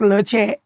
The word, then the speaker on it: LaChat: So I made the LA, made it pronounced the same, but spelled different. And so it's still pronounced LaChat.